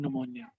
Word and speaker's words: pneumonia: became ill with with pneumonia. So वो दिखने में पतली सी एकदम दुबली सी कमजोर सी थी. And some months in New York and she became ill with pneumonia. P is silent in pneumonia.